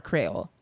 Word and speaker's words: Creole: Is like it pronounced Creole or Creole? Which one? Oh, there's difference. Some you say Creole, some you say Creole.